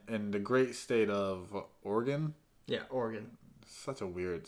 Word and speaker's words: Oregon: And then in the great state of Oregon. Yeah, Oregon. Such a weird state to say, Oregon. I think it's like Oregon, not Oregon.